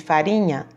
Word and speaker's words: farinha: Segundo pontinho, o som do R nas palavras parede, farinha é fraco ou forte? Ó, pronunciando parede, farinha, sai um som fraco.